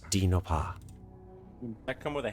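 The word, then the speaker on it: Dinh Ngoc Ha: o c h a it is pronounced d noppah would that come with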